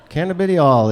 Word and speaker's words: cannabidiol: Kennedy all cannabadiol lissu cannabidiol it sounds like a southern person asking to join an auction can i biddy all can i biddy all